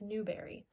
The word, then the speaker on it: Newbery: tell people is that my favorite color is blueberry and I say that because it rhymes with Newberry so speaking of which